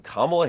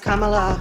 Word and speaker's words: Kamala: what's called temporary protective status that is when kamla Harris waved a magic amnesty wand taking people